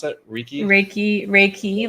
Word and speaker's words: Reiki: like a certified raik re how do you pronounce it reiky raiki Reiki like Ray sunlight and a key to unlock